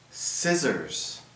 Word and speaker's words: scissors: All right, first we have the silent C. The silent C. All right, here we have some scissors.